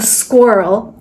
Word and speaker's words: squirrel: So it's not squirrel, it's squirrel. Squirrel. Not squirrel or squirrel, squirrel.